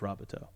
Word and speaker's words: Robateau: I will say I just found out today that it's pronounced Robo so I found sincerely apolog